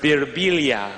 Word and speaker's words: Birbiglia: me they'll be like in Italy it's pronounced Bia I'm like in America